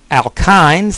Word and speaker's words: alkynes: Alkynes, that's how you pronounce that last one, those are dealt with a good bit in chapter 9.